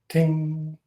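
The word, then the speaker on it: 听: to this chinese character for listening which is pronounced ting that's how you actually pronounce this in chinese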